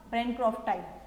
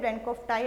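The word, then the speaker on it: bancrofti: वो वर्म है बुचेरिया ब्रैनक्रॉफ्टाई। ठीक है, ब्रैनक्रॉफ्टी हिंदी में बोलते हैं, ब्रैनक्रॉफ्टाई अगर स्पेलिंग वाइज अगर हम पढ़ते तो दोनों चीज चल जाती है आपकी, बुचेरिया ब्रैनक्रॉफ्टाई।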